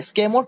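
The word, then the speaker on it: sycamore: ওকে, এখানেও কিন্তু ওয়াই উচ্চারণ হয় না, স্কেমোর ট্রি।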